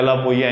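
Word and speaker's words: Alappuzha: अलापुइया की स्पेलिंग है अलापुजा लिखा हुआ है, लेकिन इसको बोलते हैं अलापुइया है, केरल की भाषा में, केरल का है ये।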